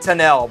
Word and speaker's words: Tunnell: great player all right do you know the correct pronunciation of number Four's last name emlin tanell but I've heard him called emlin tunnel a billion times either way he was